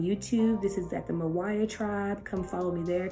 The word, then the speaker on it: MYWYA: Mawaya stands for Meet You Where You Are, and it's spelled MYWYA Tribe.